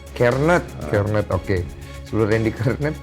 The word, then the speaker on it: Kjaernett: Bacanya Kejarnet apa Jarnet sih? Kernet.